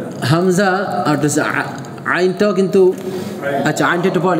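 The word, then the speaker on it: عين: আর আইনটা হচ্ছে হলকের এই মধ্যখানে আইন আইন, আবার বলেন আইনের একক কি আইনের একক কি, আবার বলেন আবার সবাই মিলে আইনের একক কি কেমন।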